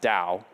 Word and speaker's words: DAO: risks and that's the the DAO where most of us pronounce it Dow and they call themselves